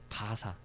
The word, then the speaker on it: 바사: 바사. 따라해보자. 바사. 바사. 페르시아의 이제 또 다른 발음으로 바사라고도 해요.